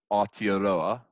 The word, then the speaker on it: Aotearoa: Aotearoa, to pronounce it correctly.